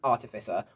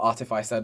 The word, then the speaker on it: artificer: And I was torn between sorcerer and artificer or artifiser depending on how you say it. I've said it many different ways over my life and many people say it many different ways.